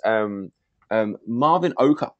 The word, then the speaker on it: Marvin Oka: so without further ado I'd like to introduce Marvin oka is that pronounce it Marvin is that right yeah well